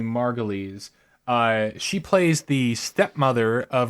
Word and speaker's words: Margolyes: Until yesterday, I thought it was Margoyles, so I'm not the guy to ask. Wikipedia tells me Margolyes.